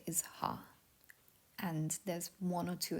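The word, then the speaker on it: は: is ha um flashing you might hear it as W when it is used as a particle it is only W when it's used as a particle and with an exception of K and K all other times it is her um if you don't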